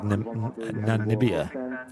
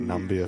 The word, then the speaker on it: Namibia: Andy mentioning you do you are supposed to pronounce the eye so it's like Namibia yeah we've just been calling it nambia for that last God